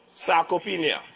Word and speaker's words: sarcopenia: So, sarcopenia and cachexia, all right? That's the pronunciation, all right?